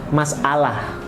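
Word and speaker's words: مسألة: ujungnya adalah Ta marbutoh masalatun kalau diwakafkan berarti bacanya masalah diserap ke bahasa Indonesia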